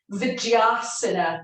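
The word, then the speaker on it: Dvijasana: Svarga Vijasana. It's DV, but it's pronounced Dv.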